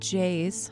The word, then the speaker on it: Jais: The reports also note that Jays, which is spelled Jais, was looking for him,